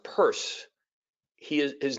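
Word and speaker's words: Peirce: CS purse it's pronounced purse he is his name is spelled p i r CE note it it's not Pierce a lot of people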